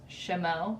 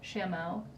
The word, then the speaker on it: Chameau: Why did I have to pick the one that I can't pronounce? Chameau. Chameau. C-H-A-M-E-A-U.